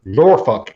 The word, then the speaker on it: Norfolk: here and down here in this area where norfolk is uh which is actually how we pronounce it he's very particular about catching the